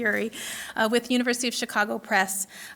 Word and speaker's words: Urey: Urey. Am I pronouncing that correctly? Yes. Harold C. Urey, with University of Chicago Press, which examines the